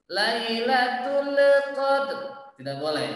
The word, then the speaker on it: lailatul qadr: Tidak boleh kita bacanya dengan lailatul. Nah, tidak boleh pakai le, tidak boleh mantul, ya, karena bukan termasuk huruf lam itu bukan huruf qalqalah, ya. Jadi sempurnakan huruf lamnya, jangan sampai mantul.